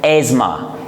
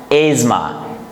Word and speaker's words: asthma: We have this word, and this word TH is silent and we pronounce it asthma, asthma, asthma, asthma, asthma.